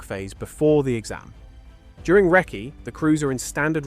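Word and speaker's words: recce: 17th Wrecky, pronounced wrecky, short for reconnaissance.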